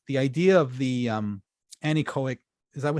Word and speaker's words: anechoic: that the the the idea of the um anechoic is that how you say it anechoic yeah the anechoic chamber is that it blocks